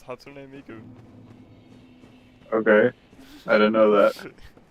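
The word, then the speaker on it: 初音ミク: It's So I've Hatsune. always said it how I thought it was said. It's Japanese. It's Hatsune Miku.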